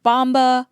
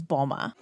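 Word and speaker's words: Mboma: part of the reason so many announcers pronounce her name wrong I've heard bomba Mamba M bomba but just so we're clear her last name is Bulma here's the other 18-year-old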